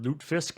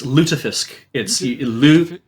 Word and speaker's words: lutefisk: to say the word loot fisk as much as possible which is fair it's it's uh it's lutefisk it's how it's pronounced and i was gonna